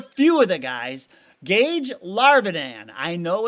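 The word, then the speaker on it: Larvadain: Gage Larvidan, I know it's spelled Larvidane, but they pronounce it Larvadane.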